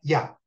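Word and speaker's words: יה: meditar el santo nombre de Yud-Heh que se pronuncia Yah.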